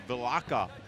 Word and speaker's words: Vilaça: how to finish up a little correction on the pronunciation it's vilaça locked up Adrian vilaça